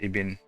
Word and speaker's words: Ibn: Ibn is pronounced Ibn.